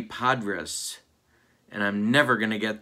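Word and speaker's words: Podres: lifetime of saying it johnny padres not johnny padres it's johnny podrus and i'm never gonna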